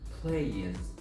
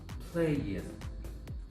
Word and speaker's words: plays: In this case, the S coming after this letter will be pronounced as a Z sound, not an S sound. So it will be plays, plays, not plays, plays.